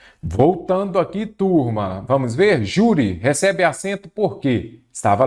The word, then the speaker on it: júri: Então, júri. A sílaba forte é a penúltima, ela é uma paroxítona terminada em I.